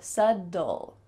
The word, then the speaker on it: subtle: So forget that there's actually a B in this word. And instead, you can say subtle.